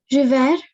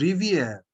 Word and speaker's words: rivière: There is a grave accent over E. River. No, it is Riviere.